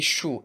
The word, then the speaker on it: choux: Le X, une voix, des choux. Est-ce que j'ai dit une voix ou bien des choux? Non, du tout. Le X ne se prononce pas à la fin d'un mot.